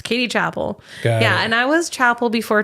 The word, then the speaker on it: Chappell: my name correctly because usually people would say Chappell. Oh, I'm like, really? no, it's Chappell. Yeah. And so, yeah, but it's Chappell. It's, I say Chappell.